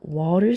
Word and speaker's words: were: were를 써주게 됩니다. 이거 발음을 where이라고 하는 친구들이 굉장히 많은데 were예요. were.